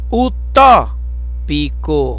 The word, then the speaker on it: utópico: Utópico. O forte é no tó, né?